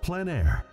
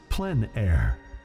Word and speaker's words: plein air: of outdoor painting called plein air the French coined the term which means open air or outdoors the French pronounce it plenn air others say plein air no matter how you